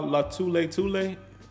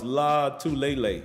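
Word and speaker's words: Lotulelei: Star Latule? I think that's how you say his name, Latule. No, it's Latulele. I think that's how you say it.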